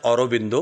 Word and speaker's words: Aurobindo: लेखक आहेत योगी अरविंद आता इंग्लिश उच्चार करतात रोबिंदो कारण तो बंगाली उच्चार आहे आणि सध्या त्यांना जास्ती